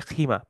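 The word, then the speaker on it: خيمة: থাকেন প্যাভিলিয়নে থাকেন সো খাইমা শব্দটা হচ্ছে লোগাতুল ফুসহা ফুসহাতে খাইমা বলে আর লোগাতুল আম্মিয়া অর্থাৎ ওদের ডায়ালেক্ট বলে খিমা যেটা আপনারা হজে গেলে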